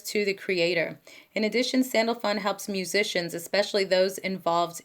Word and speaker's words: Sandalphon: him to reveal that secret to you okay Sandalphon yeah okay I did pronounce it right he was the Prophet Elisha